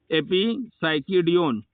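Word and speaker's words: Epipsychidion: इपिसाइक्योडियन। इसका प्रोनाउंसिएशन आप लोग फिर से देख लीजिए, इसका प्रोनाउंसिएशन जो करेक्ट है वो है एपिसाइक्योडियन।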